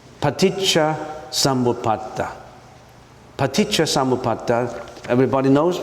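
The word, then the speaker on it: paticca samuppāda: Now why don't we just you listen to how I pronounce it? It's paticha sambuata.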